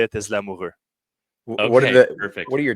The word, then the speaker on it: Lamoureux: Well, the way to say it in French is Lamoureux. Okay. So that's the proper way to say it, but it's hard for English people to say the R, say re. So normally everyone just says Lamoureux. So Lamoureux is fine.